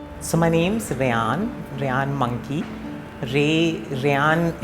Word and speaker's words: Rayyan: Rayyan is pronounced like Ray, like sun ka Ray, and Yan like dhaga wala Yan.